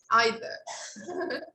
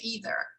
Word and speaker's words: either: like the pronunciation british either okay you can say that in the british way or you can say that in american way either both are correct okay number two so